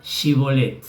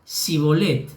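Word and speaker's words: Schibbolet: él respondía que no le obligaban a pronunciar la palabra si bolet pero él decía sí volem porque no podía pronunciar correctamente entonces lo tomaban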